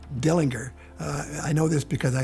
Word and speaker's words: Dillinger: Probably the most notorious wielder of an Ortgies pistol was John Dillinger, although his name was really actually pronounced Dillinger.